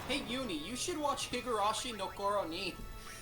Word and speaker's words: Higurashi: I'm not sure if Higarashi Nooron will break you. Am I pronouncing that right? I always mix up long titles. Higurashi.